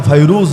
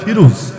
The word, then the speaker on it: ফিরুজ: এক সাহাবী যার নাম ফরুজ রাদিয়াল্লাহু আনহু। বাংলা এলা ফিরুজ। মূল উচ্চারণ ফরুজ।